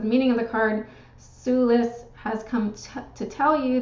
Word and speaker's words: Sulis: to look her up okay and it is pronounced Sulis suus okay she is an ancient British goddess